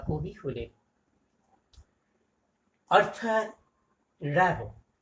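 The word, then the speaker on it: Rimbaud: শুরুতেই আমরা তার পেরেন্টস ফ্রেডরিক র্যাবো, র্যাবো উচ্চারণটা সম্পর্কে একটা কথা বলি। সুনীল গঙ্গোপাধ্যায় একবার ফ্রান্সে গিয়েছিলেন, তো সেখানে গিয়ে তিনি শোনেন যে কেউ র্যাবো বলে না, তারা কি বলে, র্যাবো র্যাবো, অর্থাৎ হয় রফলার মতন একটা কি উচ্চারণ করেন। যাই হোক, সাধারণত এটাকে র্যাবো, অর্থাৎ এমটা চন্দ্রবিন্দু আর ডিটা সাইলেন্ট থাকে ফ্রেঞ্চ ল্যাঙ্গুয়েজ বলে।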